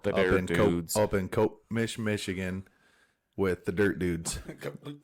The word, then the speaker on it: Copemish: up in Cope-Mish, Michigan, with the Dirt Dudes. Cope-Mish. That's what it's called. It's hard to pronounce.